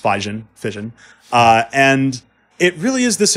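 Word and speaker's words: Physion: them and which is still they're promoting now fission spelled PHY sio n but not pronounced spigen fission and it really is this incredible plugin and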